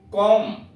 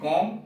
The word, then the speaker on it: comb: ठीक, अब नीचे कुछ अक्षर जो साइलेंट में है उन्हें दिया गया है B silent. कॉम कंघा, COMB कॉम कंघा, LAMB lamp मेमना, THUMB थम अंगूठा।